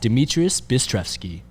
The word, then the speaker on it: Dmitrious: and obi-wan please welcome to the jam cast demetrius hey thanks for having me how was the pronunciation too far off no it was good